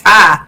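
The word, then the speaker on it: Ptah: Oh, and people pronounce it Patai. I've been pronouncing it Patai. It's Tai. Okay. The P is silent.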